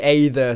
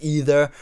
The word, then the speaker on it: Aether: gonna say straight away I am going to be calling this the Aether so if you are not happy about that and you want it to be pronounced either or anything like that then then you can you know you can button it because I'm gonna be calling it The Ada so hopefully you will